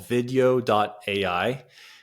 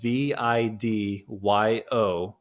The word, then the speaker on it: Vidyo: It's called video.ai. It's an AI repurposing tool, and it's spelled VIDYO.ai.